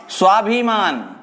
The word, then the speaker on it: स्वाभिमान: ऐसा ही उदाहरण दूसरा, स्वाभिमान। यहां भी सीधी सी ध्वनि आती है आधे स की, जिसको अपन ऐसे लिखे या फिर स हलंत ऐसे भी लिख सकते हैं।